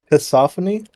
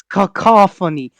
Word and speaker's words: cacophony: detected theophany of Discord can you repeat that word kopon cacophony noop it's cacophony you know about copon